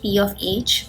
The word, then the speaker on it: pH: of hydrogen, that is P of H, this is how we pronounce it, it's not pH, it is P of H, at least that is what I was taught.